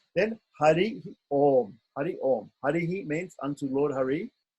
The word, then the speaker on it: Om: So Om is a slightly extended syllable.